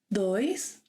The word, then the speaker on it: dois: ‘Dois’ – a hard ‘d’ sound.